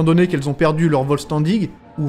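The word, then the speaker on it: Vollständig: Étant donné qu'elles ont perdu leur Volstandig, ou Volsterndish, apparemment ça se prononcerait comme ça, ben elles sont bien moins fortes qu'avant, même si le pouvoir de leur Schrift est toujours là.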